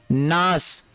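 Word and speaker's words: gnash: भी जी word silent होगा, यानी जी वर्ड साइलेंट होगा। तो इसको हम क्या पढ़ेंगे, नास।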